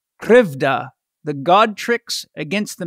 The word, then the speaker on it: Krivda: an incredible book called krevda she taught me how to say it it's the book is krivda the god tricks against